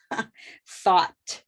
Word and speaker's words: thought: rose word okay rose what can we say when it doesn't have the t it's rose when it has the t it's olive thought right so that olive comes